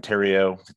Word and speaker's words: Therriault: name is terrio it's easy uh for pronounced pronunciation a lot easier than looks uh terry and then if you just thought of like the the name terry uh and then hyphen oh and that's it it's easy like cheerios